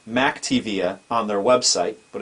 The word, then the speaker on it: McTiVia: this video, we're going to set up for the first time the McTiVia Multimedia Remote Desktop Receiver.